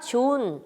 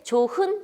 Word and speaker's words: 좋은: 그 다음에 뭐어 날씨가 좋은 존 날 날이 다 했을 때 조 흔 아니죠 좋으니 줘 이렇게 힐